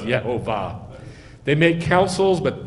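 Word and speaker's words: יהוה: Here is the sign for you from Yeh-ho-vah, that Yeh-ho-vah will do what he said. Do you want the shadow to go 10 steps? Isaiah 30, hoi, rebellious children, says Yeh-ho-vah.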